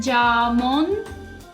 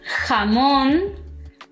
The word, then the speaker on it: jamón: La J en español tiene un sonido fuerte, como si soltaras aire. por la garganta. Por ejemplo, cuando pronuncio mi nombre es y no importa qué vocal venga después, siempre es ja, je, ji, jo y ju.